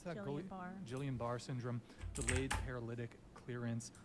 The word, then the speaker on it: Guillain-Barré: According to the NIH, several conditions may mimic brain death: locked-in syndrome, hypothermia, drug intoxication, Guillain, how do you pronounce that? Guillain-Barré.